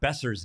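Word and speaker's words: Boeser: bid on oh my gosh how is Brock besser's name pronounced besser there's your answer fighting Sue Brock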